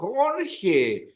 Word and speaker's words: Jorge: And then I'll go se escribe. J, O, R, G, E. Oh, Jorge.